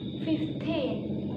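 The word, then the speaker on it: fifteen: 13 books 15 people however if the number is at the end of press or sentence we normally put the stress on the second syllable for example if you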